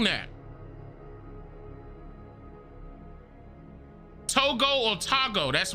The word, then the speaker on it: Togo: to greet you Togo okay that's how it's pronounced Togo okay yeah no disrespect to these real authentic